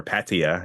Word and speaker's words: Pattaya: goes on he's in Pattaya right okay or Patia if you want to pronounce it the way it should be and the the whole